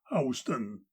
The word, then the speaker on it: Houston: It was not in this city, of course, for since Charlie Helm was elected marshal, there is no gambling in Houston. Can also be pronounced Houston.